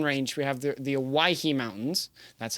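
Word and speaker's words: Owyhee: and the mountain range we have the the awaii mountains that's how you say it and then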